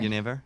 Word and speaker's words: Genever: Is that how you pronounce it in Dutch? Genever. Genever?